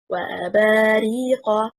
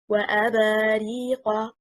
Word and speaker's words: وَأَبَارِيقَ: The correct performance, وَأَبَارِيقَ, and not وَأَبَارِيقَ.